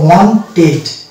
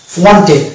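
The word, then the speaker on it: wanted: ইডি লাগাতে গিয়ে এই জায়গাটাতে কিন্তু ই এর উচ্চারণ কিন্তু আসবে, কারণ এটা হয়ে যাবে ওয়ান্টেড, ওয়ান্টেড।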